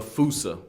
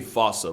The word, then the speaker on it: fossa: Bane to lemurs everywhere the fusa although with its spelling I'm pretty sure it's actually fossa but the day I pronounce it like that is the day I lay my childhood to rest the Foos is pretty